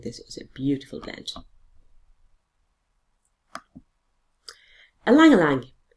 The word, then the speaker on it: ylang-ylang: Ylang-ylang. It is actually spelt Y and pronounced E. I don't know why that is. Ylang-ylang for the skin.